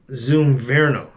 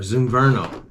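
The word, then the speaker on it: Zumverno: It's made by Shimano, and it's called the Shimano Zoom Verno, or Zoom Verno. And that's spelled Z-U-M-V-E-R-N-O.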